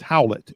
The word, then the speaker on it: Howlett: Barnum's wife's family's name is Howlett, which is pronounced Howlett.